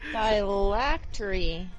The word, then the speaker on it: phylactery: phylactery.